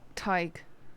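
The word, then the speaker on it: Tadhg: this tagged Tech talk you pronounce this name talk McQuillen tyke it's an Irish name it's tiger tiger oh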